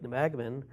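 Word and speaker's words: Nebagamon: in-laws used to have a cabin in Lake Nemagman up near Superior. You pronounced that properly, Thank which you.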